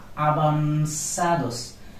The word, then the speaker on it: avanzados: This is an interesting word. Avanzados, not avanzados, because it is ube, it will be pronounced like bo. Avan, it is zeta, it will be pronounced like so. Avanzados.